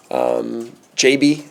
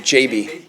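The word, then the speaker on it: Gyabi: JB. I learned you pronounce his name JB. JB.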